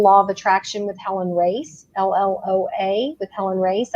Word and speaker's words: Racz: name please yes it's pronounced race like a race car but it's felt a